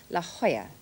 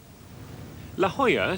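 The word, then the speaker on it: La Jolla: spelled La Jola but is pronounced La Hoya La Hoya Spanish for the jewel is another wealthy suburb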